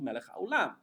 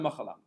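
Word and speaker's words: מלך העולם: It's Elokeinu melech haolam. It's not Elokeinu machalam.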